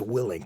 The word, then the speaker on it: Willink: I I hear this guy Jack it's actually pronounced willink jao willink now okay this is that same